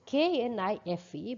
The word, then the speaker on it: knife: knife the spelling is k n i f e but in english we know that the k is silent in german the speakers